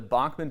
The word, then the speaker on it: Bachman: Prince George is in for a real treat when the Bachman Turner Overdrive comes to town on April 8th